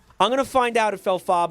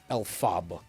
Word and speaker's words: Elphaba: Elphaba is a famous green guy.